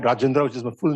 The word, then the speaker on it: Rajendra: is my full name little hard to pronounce when he lived in California used to call me rindra so so because the h andj was getting confusing for them so I just shortened